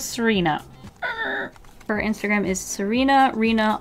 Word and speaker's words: Tsarina: Serena is, I hope that I'm pronouncing that right. Is it like tsunami where you don't pronounce the T? I'm gonna go with Serena.